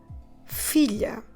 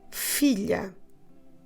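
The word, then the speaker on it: filha: one is pretty regular the daughter is a philia so let's do it again the Sun Philo the daughter uh philia so now let's put these words along with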